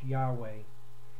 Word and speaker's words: Yahweh: for the Yahweh that's spelled y-h-w-h that people pronounce Yahweh and well that may not actually be the pronunciation when the when those letters are put together like that but irrelevant to